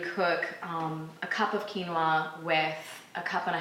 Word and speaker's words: quinoa: you go our next one is quinoa spelled q-u-i-n-o-a and pronounced quinoa it's an ancient grain from South